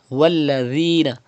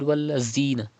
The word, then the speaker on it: والذين: Walladhina. Pronounce dhal without whistle. Walladhina. Do not read wallazina.